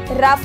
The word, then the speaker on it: rough: कभी कभी हम लोग GH को F भी प्रोनाउंस करते हैं, जैसे कि ROUGH रफ बोलते हैं, COUGH कफ बोलते हैं, पर ये कुछ ही